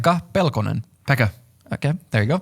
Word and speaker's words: Pekka Pelkonen: I was going to ask you to pronounce that because I figured I'd be saying it wrong. Pekka Pelkonen.